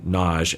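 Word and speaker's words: Nagy: you can listen to my deep dive on Naj and and contextual family therapy knowledge is spelled n-a-g-y and a big part or a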